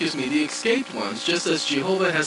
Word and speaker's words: Jehovah: It is not jahovah as in j ah. It is g j e h. The j has the g sound. Jehovah like Jesus ji who.